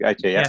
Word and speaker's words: Gaethje: Is that how you pronounce his surname? Gaethje, yeah.